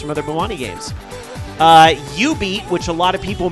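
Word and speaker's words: jubeat: other bowani games uh you beat which a lot of people mispronounce chewbeat because it has a j but the j is actually silent it's ubi uh you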